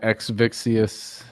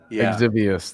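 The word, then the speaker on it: Exivious: And the Exvixius. Yeah, and then how you say Nate over here showed me Exvius. Exvius, there you go. I added an extra syllable in there.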